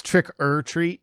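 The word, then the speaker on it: Trick 'r Treat: treat right i mean technically it's trick er treat but it's spelled trick r treat right right right right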